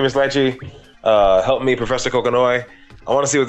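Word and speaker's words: Kokonoe: Like they teach me Miss Lychee, help me Professor Kokonoi.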